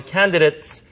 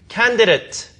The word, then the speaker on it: candidate: candidate 혹은 candidate 발음 두 가지 다 됩니다.